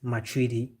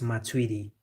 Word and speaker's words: Matuidi: Do you remember Blaise Matuidi? In English you would say Blaise Matuidi, but French they say Blaise Matuidi. I don't know where they saw the G, but that's how they pronounce it.